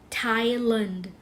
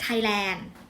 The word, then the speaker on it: Thailand: เรียก ประเทศ ไทย ว่า Thailand Thailand นะ คะ ไม่ เรียก ไทยแลน์ โอเค มั้ย คะ I'm